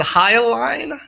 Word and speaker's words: Hyaline: I mean, do I pronounce it Hyaline? Hyaline, yeah. Hyaline Z2? Hyaline, just Hyaline.